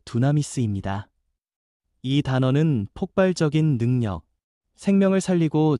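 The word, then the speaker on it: δύναμις: 권능이라는 말은 헬라어 발음으로 두나미스입니다.이 단어는 폭발적인 능력, 생명을 살리고 죄를 끊고 두려움을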